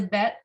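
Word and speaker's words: ב: In order for it to be a bet, it's important that it has the dot in the middle, right? Without the dot, it's a different letter. It's a vet. It sounds more like a V, right? This is a bet, just sounds like a B.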